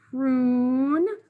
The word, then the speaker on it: prune: Prune sounds like that long U and spelled with a silent E.